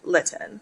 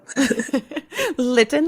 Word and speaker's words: Litten: But it's T-E-A, like a cup of tea, and then G-A-N, Litten, like kitten, but with the L. Litten like kitten.